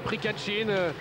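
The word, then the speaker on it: Prkačin: J'entends le speaker l'appeler Prikachin. Je vais vous épeler son nom, ça s'écrit P-R-K-A-C-I-N.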